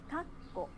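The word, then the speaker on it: かっこ: Kakko, parenthesis. Kakko, かっこ、 kakko. かっこ、 Again, the pause needs to take one clap.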